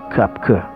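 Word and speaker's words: Koepcke: may isang babae na ang pangalan ay Julian cker tamang narinig niyo k yan ang tamang pagpronounce si Julian ay lumaki sa lima Peru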